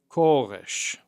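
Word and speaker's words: כורש: Kores.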